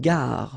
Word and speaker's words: gare: Okay, remember when you get these G and A together, the sound is g, ga, ga. Une gare. Final E not pronounced.